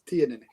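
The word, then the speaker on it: Teaninich: It's T-Ninnick. T-Ninnick. Okay. Yeah, I always go. But then you emphasize the A, I think, so it's T-Ninnick.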